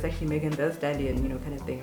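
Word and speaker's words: Megan Thee Stallion: stallion's name because the the t-h-e-e is actually pronounced t-h-e and everyone's been like i've been saying in megan b stallion but it's actually meghan the stallion you know kind of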